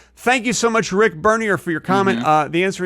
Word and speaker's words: Bernier: Rick Bernier, Bernier, he corrected me one time. It's pronounced Bernier.